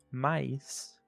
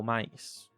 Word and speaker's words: mais: Então, para a combinação ai ou nós temos em inglês a palavra time. Então esse I de time, I é basicamente muito parecido, senão igual ao I, em português da palavra pie ou mais.